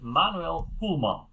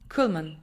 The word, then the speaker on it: Koelman: pretty sure open uh story together with Manuel kman did I pronounce it correctly well in my home language which is which is Dutch you would say Manuel kulman kulman Manuel kulman yes good great in your in